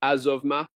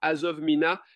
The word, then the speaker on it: Azovma: Et les gens prononcent cela Azovmina. Il le prononce de différentes manières mais la façon dont le mot m'a été dit dans le rêve était azovma. Accent azovma. Donc l'accent était sur le zov et sur le a de ma.